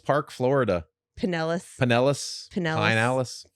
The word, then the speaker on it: Pinellas: Florida man learns hard way in Pinellas Park, Florida. Pinellas. Pinellas? Pinellas. Pinellas. It's spelled Pinellas. Pinellas. Yeah, but it's Pinellas.